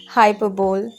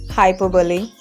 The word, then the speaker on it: hyperbole: overheard streets talking about you next one is hyperbole no it is not like that you don't have to pronounce in this way because this is incorrect pronunciation it is its correct pronunciation is hyperbole so it is a figure of speech in